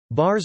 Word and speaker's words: bars: Thorkelson notes that bars are not included in Webster's dictionary, and the word pronunciation of the R is with a pirate-like A-R-R-R, followed by a soft clipped S.